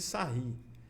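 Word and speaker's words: Sarrus: Ou regra de sarri. Então, esse aqui é regra de sarri, se escreve sarros.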